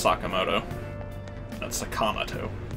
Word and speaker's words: Sakamoto: alright see ya every time I've ever seen it's spelt like that it's Sakamoto that's a comma - it just irks me